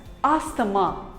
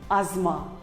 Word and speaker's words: asthma: us call it as asthamma but wrong it is not asthama it is called as asma the t and h is silent asma here is another